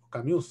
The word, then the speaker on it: Camus: Albert Camus, escribe Albert Camus, ¿no? Camus se pronuncia.